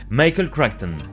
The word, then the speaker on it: Michael Crichton: L'histoire de Jurassic Park va commencer avec cet homme, Michael Crichton. Oui, je le prononce à l'américaine avec mon super accent.